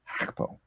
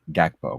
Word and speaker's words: Gakpo: Gonna talk about Cody Gakpo. I don't know that's how you pronounce his name. It's not Gakpo, by the way. It's like Gakpo. Bit of back to the throat action on that video, and